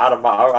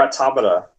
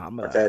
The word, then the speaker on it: Automata: Oh, not Automata. I'm sorry. Let me say it right. It's Nier Automata. Okay, Automata. that's how you say it. Yeah, Automata. Yeah, the vowels are a little bit different in Japanese, I think.